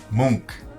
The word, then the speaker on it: Munch: is correcting Edvard and Jan Erik, and it's Munch.